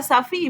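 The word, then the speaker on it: Safie: Cuando estuvo con sus vecinos, se pronuncia Safi y Félix.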